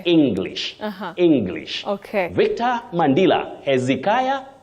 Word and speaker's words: Hezekiah: English Okay Victor mandila Hezekiah and Z not heia or Z then lastly Steve Kam